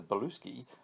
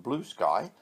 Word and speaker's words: Bluesky: too scared to break the news to Professor Bluesky, so he sends one of his assistants instead. Make sure you get his name right, he tells the young woman called Trudy. It's not pronounced Blue Sky, it's Bluesky.